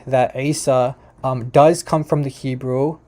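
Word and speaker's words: عيسى: Isa is with the Ain.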